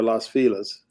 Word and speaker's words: Los Feliz: Sons Happy Sons way oh it's Los Feliz oh yeah or Las Filas has the locals say yeah hey look city